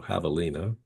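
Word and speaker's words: javelina: peckeries, which are called havalas, spelled like javealina, but it's Spanish h so havalina.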